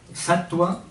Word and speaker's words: Sattva: Sattva, no lo pronunciamos a la manera española, más a la manera portuguesa, si no decimos rajas, ¿eh?